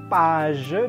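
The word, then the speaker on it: page: saya kemudian yang halaman dibacanya paize dan bukan pagi karena ini ke Ini masuknya yang bunyi lebih lembutnya begitu juga ih dibaca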